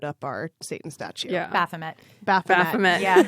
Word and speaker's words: Baphomet: Baphomet. Baphomet. Yeah. I liked when somebody at one point pronounced it Baphomet. And I was like, it's French.